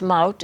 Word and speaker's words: Maud: And your first name, Maud, in Dutch it's pronounced Maud, it's very unusual.